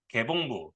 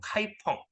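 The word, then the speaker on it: 開封: 송나라의 수도 송나라의 수도를 한국식 발음으로 개봉 또는 중국 발음으로 카이펑 이라고 얘기하죠 요거를 동경이라고도 하기도 하고요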